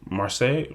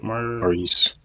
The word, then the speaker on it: Maurice: Marseilles Maurice.